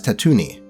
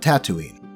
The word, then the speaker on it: Tatooine: Yes, he pronounces it as Tatooine, not Tatooine.